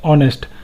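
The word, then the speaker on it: honest: तो यहाँ ऑनेस्ट में हम देखते हैं तो एच साइलेंट है, इसका प्रोनाउंसिएशन है ऑनेस्ट, तो यहाँ हम एन का यूज़ करेंगे।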